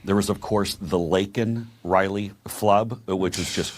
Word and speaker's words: Laken: And Biden finally says her name and he calls her Lincoln Riley instead of Laken Riley.